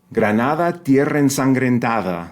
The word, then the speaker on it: Granada: can barely pronounce okay Granada that fortive D it's not t it's right again that softer D that J is really